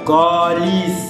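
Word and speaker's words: câlisse: Tu sais les québécois, quand ils prononcent un A, il y a un double V un peu à côté, tu vois. Par exemple ici, calice. Non, calice. Répétez après moi. Colis.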